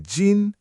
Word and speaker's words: 斤: You may hear yī jīn, one jin.